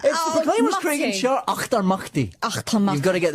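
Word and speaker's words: Auchtermuchty: All the way from Octamuti. Is that right? Nearly. It's the Proclaimers, Craig and Charlie. Achtermachti.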